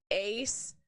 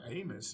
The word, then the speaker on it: Abmas: So what I've been told is it's German, and the B is silent. It's just Asmus. It's not Amos, is it?